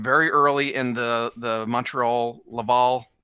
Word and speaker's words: Laval: early in the Montreal Laval, is it pronounced Laval? Laval is how English Canadians pronounce it, but okay, Laval.